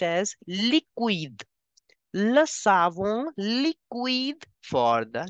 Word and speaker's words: liquide: Liquid will be pronounced as liquide.